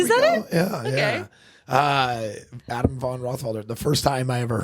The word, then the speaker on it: Adam Von Rothfelder: go yeah yeah uh Adam Von rothfelder the first time I ever heard my grandpa pronounce my name the way it was actually you know the German pronunciation though he has likea